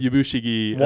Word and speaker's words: Yabushige: Yabushige Essentially wants to betray him, but is not, so unlucky that he can't.